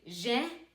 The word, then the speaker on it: jeune: If you look at the word jeune, the reason why we're pronouncing the N here is because you have two N's. Just like in moi, you do not pronounce this. You just say moi. Here, you would say jeune, jeune.